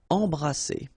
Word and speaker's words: embrasser: Alright, and then double S here, it's S. Embrasser.